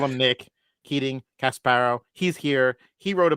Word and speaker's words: Casbarro: Casbarro.